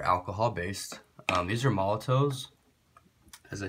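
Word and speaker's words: Molotow: based um these are Molotov as I said in my other video if it's still up I think it's pronounced Molotov or some people at least pronounce it that way uh these are paint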